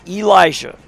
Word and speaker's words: Elisha: Love the Tapp family, pronounced long E, long I. Elisha.